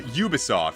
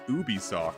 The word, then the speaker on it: Ubisoft: that's what it is I was pronouncing it as Ubisoft for a long time I didn't realize that it was a u like at the like you pronounced the U instead of it just being like it's not like it